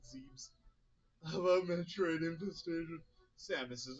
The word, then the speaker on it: Zebes: I know it's Zebs, but I'll just pronounce it Zebes.